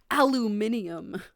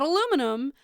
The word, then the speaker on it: aluminium: room or requirement to aluminium. It'll keep some people out. Aluminium, not aluminum. Aluminium, right? Mostly because I just like aluminium better than aluminum. Right. It just sounds better.